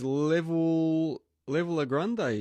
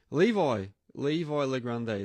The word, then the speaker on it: Levi Legrande: Level Legrande, is it? Is that how you say it? Levi Legrande. There you go.